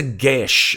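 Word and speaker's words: geas: what what is a Gish it's actually the pronunciation of the word it pronounces it depends where in Ireland you're from um but it is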